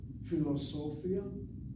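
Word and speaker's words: פילוסופיה: Philosophia has 5 syllables, and syllable number 3, so, is accented.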